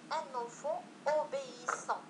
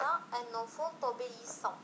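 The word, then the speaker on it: un enfant obéissant: نقول أن أنفون أوبيسان وليس أن أنفون توبيسان، داكوغ؟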